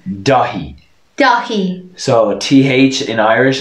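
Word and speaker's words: Dáithí: pronounce their th's because there is no th noise in irish th and irish you just pronounced the h yeah so this would be dahi and dahi is the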